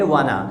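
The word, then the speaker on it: wanna: वांट a talk, यानी तो वांट टू को मिलाकर आप बोलते हैं शॉर्ट में वाना।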